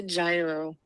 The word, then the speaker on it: gyro: hold on watch this babe how do you pronounce that type of sandwich it's a gyro thank you Latino can say gyro right anyway